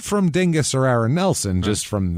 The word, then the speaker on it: Dingess: Del Bryant is a dingus xand Del Bryant a so fun to say it is the most fun it really is I'm like there's no way that this town's name is pronounced Dingus oh well I guess